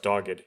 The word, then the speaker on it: dogged: It's pronounced dogged.